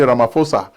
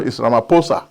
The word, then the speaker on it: Ramaphosa: i used to say ramaphosa they say no islamaphosa so the h is silent thank you i've learned from you guys how to pronounce the name siri ramaphosa so i pronounced the